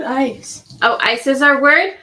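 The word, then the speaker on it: Eis: And ice cream is e i s spelled are pronounced ice.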